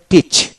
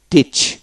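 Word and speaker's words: teach: D bread bread তারপরে টিচ টিচ বানান করে এ উচ্চারণ হবে না টিই সি এইচ টিচ টিচ তারপরে ই এ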